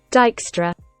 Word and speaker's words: Dijkstra: that let's check out but it's actually pronounced dijkstra okay so in this